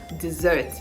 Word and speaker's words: dessert: you have after dinner dessert dessert dessert dessert to ignore the s the sound there is the z sound so dessert dessert the stress is on the second syllable dessert D zert okay